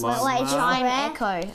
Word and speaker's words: Chimecho: All right, Chimecho or Chimecho, however you want to pronounce it. Chimecho, whatever. Blitzel. Yeah, it's Chime Echo.